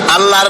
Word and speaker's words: আল্লাহ: আল্লাহর নাম আল্লাহ। বলেন তো, আল্লাহ নয়, কিন্তু আল্লাহ হচ্ছে অশুদ্ধ, শুদ্ধ হচ্ছে আল্লাহ। বলার সময় মুখটা গোল হয়ে যাবে। বলেন তো, সবাই উচ্চারণ করেন আল্লাহ, আবার বলেন আল্লাহ, আবার বলেন আল্লাহ।